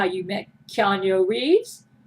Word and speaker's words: Keanu: make sure I pronounce Keanu's name correctly, because he does not like it when you pronounce his name Keanu. He says, no, Gail, pronounce my name right. It's Keanu.